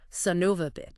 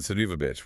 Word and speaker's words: son of a: The transcript even mentioned the pronunciation, how it gets squashed together in casual speech. Sonova Yeah. Or even sona with those schwah sounds.